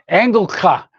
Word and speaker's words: Engelke: So the German guy says Engelka. He said Engel, angel means angel in German.